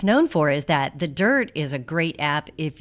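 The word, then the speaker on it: Dyrt: So, if you guys aren't familiar with the dirt, let's start right there. First of all, it's spelled D Y R T.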